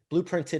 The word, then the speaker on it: Blooprinted: Blooprinted is the company. It's BLOO printed. It's not spelled with like UE.